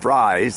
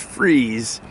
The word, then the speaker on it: Fries: It is um not pronounced fries, it's pronounced freeze.